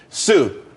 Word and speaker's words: Tsu: Sue, TSU. It's pronounced Sue though.